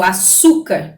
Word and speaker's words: açúcar: Então, por exemplo, açúcar. Então, ó, quando a gente separa a sílaba da palavra açúcar. A-su-car, né? Como, então, aqui essa penúltima sílaba aqui, o açu, né?